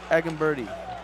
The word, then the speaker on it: Egemberdi: other tonight I'm going to I'm going to butcher these names we're going to call them agen birdie agen B that's that's exactly correct that's actually